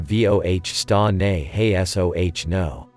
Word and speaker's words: Voestanehasono: In Cheyenne, similar to voh sta ne hesoh no.